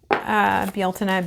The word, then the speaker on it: Bealtaine: Bealtaine being the Irish pronunciation. You could say Beltane.